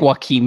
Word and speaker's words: Joaquim: Isn't it pronounced Joachim? Joachim? Is that it? No, it's like Joaquim. I don't know. He said it was like Joaquim Phoenix.